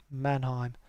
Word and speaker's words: Mannheim: do some gliding because that map's really nice mannheim that's how you pronounce it so that's cool so yes we